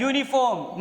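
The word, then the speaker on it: uniform: और इसका जो प्रोनाउंसिएशन है वो क्या है? यूनिफॉर्म। मतलब इट मीन्स कि यह का साउंड क्रिएट हो रहा है और यह का साउंड किस में होता है? कॉन्सोनेंट में क्रिएट किया जाता है।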